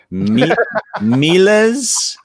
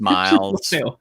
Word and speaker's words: Miles: give your weekly numerous attempts at pronouncing his name, like Milas. Uh, and then the whole time, AJ and I are sitting here like, I think it's just Miles.